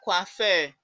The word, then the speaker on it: coiffeur: If you remember our coiffeur, we can see that it's the same pronunciation.